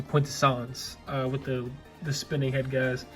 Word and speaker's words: Quintessence: gonna mispronounce it, because it's not Quintessa, obviously, it's the Quintessence, with the spinning head